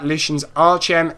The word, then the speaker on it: Lucens Arcem: our tournament organisers at Lucens Arcem, LUCENS, and Arcem, ARCEM. It's Latin, so it's said a different way than it's spelt.